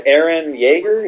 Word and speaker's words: Eren Yeager: Yeah, Fantasy Earth, and really, these two guys, Eren Yeager, is that how you pronounce it?